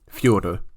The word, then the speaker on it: Fyodor: Are we going Fedor? Are we doing whatever you just said was? Or are we doing Fyodor, which is the correct way, isn't it?